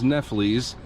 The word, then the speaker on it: kneffles: But going into liver dumplings, also known as kneffles, that is how you pronounce it.